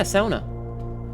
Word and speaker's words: sauna: Yeah, sauna. And yes, I pronounce it like a fin.